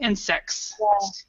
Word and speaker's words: insects: when we have that when there's the s right there we do not pronounce the T insects but when there is